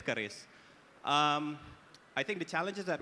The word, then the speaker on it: Keris: Ibu Fili, and then I mistakenly said Curis instead of Keris, and then she immediately looked at me, so I had to correct myself. So yes, it's Keris.